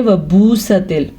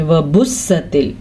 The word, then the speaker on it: وبست: میں نے کسی کو پڑھتے سنا تھا، وہ پڑھ رہے تھے وبوستل، ایسے نہیں پڑھنا آپ نے. وبستل، وبوستل کا تو شد بھی رہے گی اور واو مدہ بھی آ گیا با کے بعد، تو ہم پڑھیں گے وبست الجبال لام پیشلو، لیکن با زبر الف با اسے کھینچ کے پڑھیں گے کیونکہ یہ الف مدہ ہے.